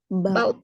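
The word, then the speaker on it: bought: bau cara bacanya gimana bau benar ya jadi g sama h-nya enggak dibaca jadi ba seperti ini ba kalau bring Apa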